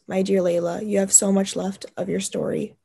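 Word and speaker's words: Lejla: Okay, how do I say it pronounced? L-E-J-L-A? Layla.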